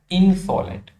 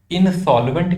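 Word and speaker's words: insolent: अगला वर्ड हमारे पास जो है वो आने वाला है इनसॉलेंट। इनसॉल्वेंट नहीं है, स्पेलिंग देखेंगे, इनसॉलेंट है।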